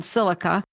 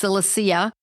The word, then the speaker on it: Silicea: get this information and read up on silica sometimes pronounced psilocysia depends on whether it's the Latin version or the English version.